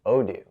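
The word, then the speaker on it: Odoo: That's odo pronounced odo.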